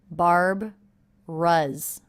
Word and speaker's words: Barbara's: shredded oats with milk I noticed that Barbara's is only two syllables even though it looks like it might be three we sort of leave this middle sound out here barb Russ Russ also note this apostrophe s is a Z sound that's because the